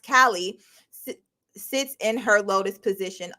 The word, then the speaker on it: Cailleach: The Irish goddess, Cailleach, or pronounced Kali, sits in her lotus position, also, and does the same.